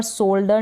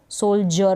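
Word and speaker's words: soldier: अब यहाँ पर सोल्डर नहीं पढ़ते, इसको सोल्जर पढ़ते हैं, ज पढ़ रहे हैं।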